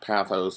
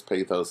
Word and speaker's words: pathos: ethos pathos and logos sometimes you hear them pronounced pathos or Lagos or something but I tend to pronounce them all with a long vowel sound at the end ethos pathos and logos and the torkoal appeals